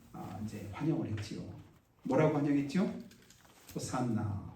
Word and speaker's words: 호산나: 호산나, 호산나. 히브리어는 호시아나, 원래는 호시아나인데, 이게 이제 불릴 때 이제 발음되는 대로 그 음역을 따라서 헬라어에서 이제 호산나 이렇게 했습니다.